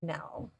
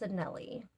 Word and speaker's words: Anele: I wasn't saying it right. I was saying Anele. It's Anele.